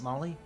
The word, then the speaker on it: Maille: Is that Molly? Yeah, it is pronounced Molly. Okay. It looks like a Gaelic spelling, Yeah. Maille, but it's Molly.